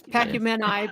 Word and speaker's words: Pacumeni: It's Pacumeni, but okay.